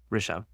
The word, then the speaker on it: Rishabh: Rishabh. Rishabh.